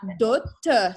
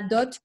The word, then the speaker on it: dot: La dot, which means the dowry, is pronounced. That's an exception. There's not many words in French where we'll pronounce the final T. La dot que les parents avaient, okay?